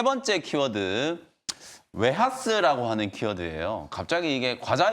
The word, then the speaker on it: 웨하스: 겹겹이 이제 쌓여 있는 그 부드러운 과자를 얘기하는 건데 실제로는 이 웨하스가 웨이퍼를 의미한다라는 속설이 있어요. 어. 이 웨이퍼를 이제 일본인들 발음으로 이제 웨하스 이렇게 부르다가 웨하스 그게 이제 과자 모양하고